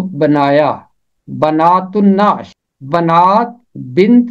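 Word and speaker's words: بنات النعش: इसका तलफ़ुज़ है बनातुन्नाश, बनातुन्नाश। ते मिलेगा नून के साथ, क्योंकि नून है हरफे शमसी। अगर अलिफ लाम के बाद हरफे शमसी है तो फिर लाम की आवाज खामोश रहेगी।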